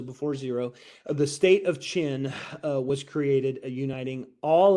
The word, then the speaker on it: Qin: we get the name China and I know it's Qin but it's pronounced chin oh but in any case it did not the Qin dynasty didn't really live